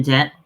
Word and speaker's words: debt: I feel like if you don't try to pronounce it at all, you just sound a little bit lazier and a little bit more American with your language.